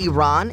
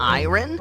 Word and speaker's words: Iran: Did you know the country is pronounced Iran and not iron?